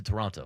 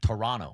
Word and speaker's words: Toronto: I had no idea until the World Series this year that you don't pronounce the second T in Toronto. Local, it's Toronto. Toronto.